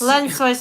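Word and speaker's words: Lençóis: I would say no. No, French that's soie. French. But it's Sois. so that's Lensois maranhensis. lensois. I said sois, not sois. Soy, like soy sauce.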